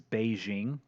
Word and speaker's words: Beijing: is mainland China and that says peaking there another way of spelling or pronouncing peaking that is more commonly used now as Beijing what happens is Mandarin